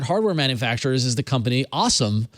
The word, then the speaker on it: OSOM: manufacturers is the company awesome because they they spell it a way that you like this you like to say awesome awesome awesome awesome awesome